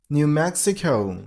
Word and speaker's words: New Mexico: New Mexico. You got to stress on the personal level of the second word.